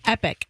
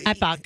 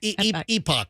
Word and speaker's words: Epoch: it's the complete opposite I thought it was pronounced Epic no Epoch Epoch EP yeah is how you pronounce it okay